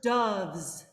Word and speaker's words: doves: Now, what vowel am I saying? Doves. Uh, Schwa. yeah, but you're not. So try it again. Ah, okay. Doves flying sky high. There it is. Because you were doing a little bit of like doves, dog, Yeah, dog. Like you're number almost going to 6. ah. Yeah, Yeah. dove. It's that schwa, so the jaw's up.